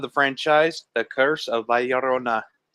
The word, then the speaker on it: La Llorona: franchise the curse of valorona a name that I still have trouble pronouncing Rona you gotta roll the r look look Corona foreign